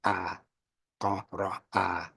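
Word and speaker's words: اقرأ: So it's from Qaf to Ra to A. That's the pronunciation. A, Qa, Ra, A.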